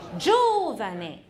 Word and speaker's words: Giovane: 轻？No，重音在第一个。Giovane。如果念 Giovane 的话，我就把那个重音符号我会放在 R 的上面。Giovane。